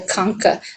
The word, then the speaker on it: concha: is the inferior nasal concha in particular right here and that bone sort of curls up like this the concha the ch in that word is pronounced like k now in the lateral